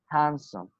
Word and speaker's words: handsome: So when te and de, rule number 2, you must remember, when te and de come between 2 consonant sounds, we do not pronounce them. Like these examples, we will say what? Friendship, friendship, handsome, okay?